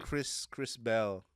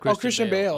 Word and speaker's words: Christian Bale: Chris Bell. Who's Chris Bell? I mean, not what's his name? That I'm saying his name wrong. The Batman dude, Chris what? Christian Bale.